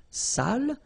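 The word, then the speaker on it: sale: without the accent so if you don't put the accent it means dirty and then you pronounce it Sal but in that case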